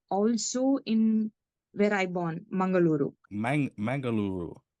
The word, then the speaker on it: Mangaluru: Like, how do you pronounce that? Mangaluru. Mangaloo. Yes, Mangaluru.